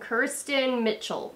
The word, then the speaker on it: Kiersten Mitchell: Kiersten Mitchell.